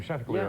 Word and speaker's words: Chanticleer: Chanticleer. Is that the way you pronounce his name? Chanticleer, Yeah.